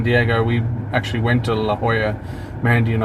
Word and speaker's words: La Jolla: Yeah, Mandy just said I used to call it La Jolla, which if you say it phonetically, it is La Jolla. Because it's a J, but it's 'Cause a it's a Spanish J.